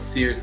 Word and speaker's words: Searles: is Searles III. The L is silent.